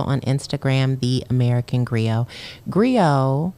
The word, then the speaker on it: griot: Instagram the American Grio Grio has a silent T at the end it's g-r-i-o-t all right check it